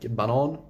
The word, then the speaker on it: banan: Banan, which means banana, but if you pronounce it banan, it means the track.